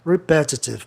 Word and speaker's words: repetitive: Repetitive, palavra terminada em IV, aí a palavra é propaloxítona, o E não tem razão de ser, é repetitive.